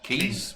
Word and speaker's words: quays: So they've managed to find that in the northern part of the city, there's this interesting set of quays, however you pronounce it, keys, Yeah.